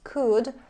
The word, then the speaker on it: could: is absolutely the same of course code is pronounced with a sound we don't read letter o in this word so it's could and let's look at the examples I could